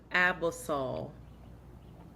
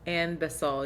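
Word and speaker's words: Anbesol: myself from my sleep what is abasol andasol no that's not how you say it and basol yes it is to numb it that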